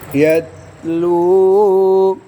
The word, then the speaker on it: يتلو: रसूला मिनहुम رسولا منهم यतलू يتلو इसमें बच्चों अलिफ साइलेंट है क्या साइलेंट है अलिफ यतलू يتلو अलैहिम عليهم आयातिक آياتك